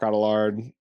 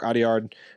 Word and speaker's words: Audiard: I'll still say Jacques Adelard. Sorry, I'm mispronouncing his name. Jacques Audiard for Emilia Perez is who I think they're going to pick.